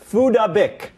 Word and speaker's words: Phuc Dat Bich: It's pronounced Fudabik.